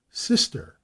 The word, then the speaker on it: Cirencester: For example, Magdalen for Magdalen College, Sister for Cirencester, Marybone for Marylebone. Their geographical nomenclature shows many corruptions due to faulty pronunciation and the law of hops and jobson.